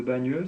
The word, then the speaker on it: Bagneux: Parce que les deux, la façon de prononcer, Bayeux, Bagneux, c'est quasiment la même chose.